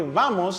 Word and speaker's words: vamos: That's why vamos sounds more like vamo, but it's just really softened.